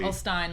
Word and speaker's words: Ulstein: Shout out to Ashley Ulstein. She's been very... Ulstein, like wine. Like rhymes with wine.